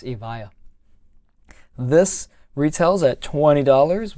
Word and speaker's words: Evija: six nine zero seven the lotus evaya or avija or the vijaya is what i've been pronouncing it for so long but now i'm an idiot and i realize that it's avaya this retails at twenty